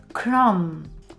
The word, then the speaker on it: crumb: understand this dumb sound, when M and B are together, we usually don't pronounce B at the end. For example, thumb or crumb, bomb. In all of these words, B is silent.